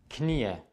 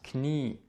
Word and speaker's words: Knie: dass sie lange auszusprechen zum Beispiel das Knie es ist nicht Knie es ist das Knie dieses i wird lang ausgesprochen was auch sehr sehr